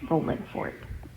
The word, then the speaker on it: Rolling Fork: I loved the name Rowland Fork. Now, of course, it's spelled with a g at the end, but I do not say it that way because that's not how they say it.